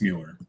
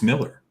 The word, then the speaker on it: Mueller: it's not miller it's mueller so yeah yeah who calls it that coupon not a coupon hey listen if you want to know that's the official pronunciation it's miller you stop i'm not